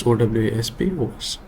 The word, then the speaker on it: OWASP: How you pronounce it's up to you or me. It's OWASP.